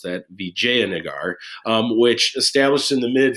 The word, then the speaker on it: Vijayanagar: by the kingdom of Vijayanagar, that's how you pronounce that, Vijayanagar, which established in the mid 14th century and continued on until about 1565.